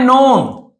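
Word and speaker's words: known: अ मैन नोन व्यक्ति नोन यानी जो जाना जाता था तो के यहां पे साइलेंट है नोन बस पढ़ेंगे इसको नो का नोन हो जाता है फॉर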